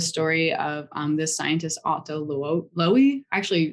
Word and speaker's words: Loewi: And so, one of my favorite stories is the story of this scientist, Otto Loewi. Actually, like never know how quite to say his name. It's Loewi.